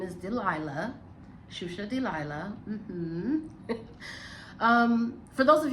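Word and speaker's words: Xuxa: But yes, my name is Shusha. It's spelled X UXA.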